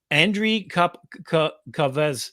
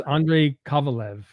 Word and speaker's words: Andrei Kovalev: So basically, Andriy Kavez, I'm sorry, butchered his name. I thought you He's were saying my name in a weird way. I'm like, what? Andrei Kavalev. I think it's Andrei Kovalev. Kovalev. There you go.